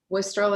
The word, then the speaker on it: Wostrel: last name properly well you can pronounce it as wol or wol wistol is what I go with westrol W she